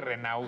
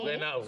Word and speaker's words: Renaud: Bueno, tenemos entrevista con Michelle Renaud, ¿se pronuncia? Michelle Renaud. Sí. Renaud.